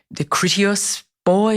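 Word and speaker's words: Kritios Boy: the narrative where John is reflecting on the Critias boy, is that how you pronounce it?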